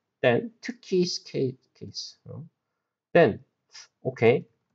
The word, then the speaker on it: 특히: So, it became 특히. Because 그 and 흐 met. 그 and 흐. So it's same for other pronunciations like 드 and 흐는 드 and 흐, 트 and 브 and 흐, 프 like this.